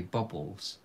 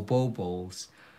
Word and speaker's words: baubles: i love how you how do you say bubbles we say ornaments oh bow balls oh thank you cheryl oh oh yeah that's